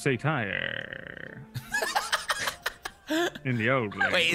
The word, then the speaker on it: satyr: It's pronounced satire.